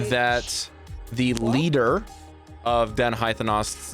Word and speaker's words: Haithenos: They mention one of the 12 noble dens of the Kryn dynasty, and this den is called Haithenos. That's how you pronounce it. Hythenos.